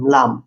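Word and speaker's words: لام: L double E এম লাম উচ্চারণ পরিষ্কার ল উদাহরণ শব্দ লাবানুন লা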